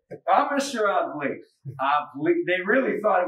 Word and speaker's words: Avli: It's called Avli. Avli. It's spelled A-V-L-I. I had some diners here last night, a group of 6 young ladies who said, "Are you Mr. Avli?" And I said, "I'm Mr. Avli."